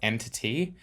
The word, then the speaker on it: EnTT: Just to be clear, I know that I think it's technically supposed to be pronounced EnTT, but I'm going to call it ENT.